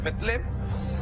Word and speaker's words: Belén: San Mateo, capítulo 2, versículo del 1 al 3 dice: cuando Jesús nació en Belén, cuyo en realidad pronunciación es Betlem, de Judea, en días